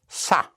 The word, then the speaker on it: ça: But otherwise, it by itself is ça, spelled C-A, and it has a little hook on the C to give you the pronunciation of an S instead of ka, make it ça.